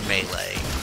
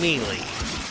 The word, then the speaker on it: melee: them hayley yeah melee there's no a in melee why the would you pronounce it melee it's mealy with two e's why